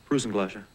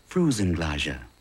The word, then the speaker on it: Frusen Glädjé: eating all the Frusen Glädjé. (pronounced froo-zen glah-zha) All the what? Frusen Glädjé. Ice cream. Just can't help myself. Hmm. Frusen Glädjé.